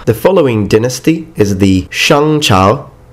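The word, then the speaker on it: 商: The following dynasty is the Shang Chao, Shang Chao. Please notice that the G is not pronounced in Chinese when it follows an N.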